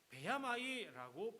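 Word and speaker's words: בְּיָמַי: 여기에 평생이라고 하는 단어 나오는데요, 베야마이라고 발음합니다.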